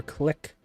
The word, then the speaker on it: clique: For many years, the border skirmishes have taken place between the Muslim Chinese Ma clique and Mongolian troops across the border.